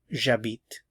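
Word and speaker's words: j'habite: have my root here it has to be the J apostrophe because the H is silent so this begins with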